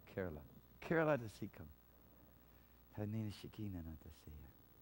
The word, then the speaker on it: Kerala: Kerala to Sikkim. Hallelujah. Kerala, right? They said it wrong. Kerala.